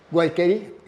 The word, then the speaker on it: Guikeri: Guikeri, lo mismo, pero con cambios fonológicos. Keri así con acento en la penúltima, porque generalmente el Caribano no acentó la última, sino la penúltima, salvo que haya una